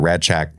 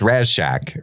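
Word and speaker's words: Rasczak: It's kind of a D sound, Radchak. Radchak. But it's spelled with like an S-Z-C.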